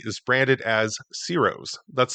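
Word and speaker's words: Ciro's: first building on your right is branded as Ceros. That's spelled C I R O apostrophe S.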